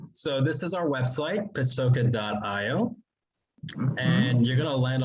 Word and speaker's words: Pacoca: and no because i say pakoka but you are saying actually it's pasoka right hey listen i i